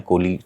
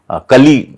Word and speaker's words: कोली: मेरी एक बड़ी बहन है कोली चटर्जी। कली एक्चुअली हिंदी में बोला जाता है और कोली बांग्ला में उच्चारण होता है।